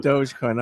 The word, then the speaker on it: Dogecoin: heard of things like I still don't know how to pronounce it it says Dogecoin or doggy coinin perfect yeah doge is the yeah doge is the correct term Dogecoin okay I mean there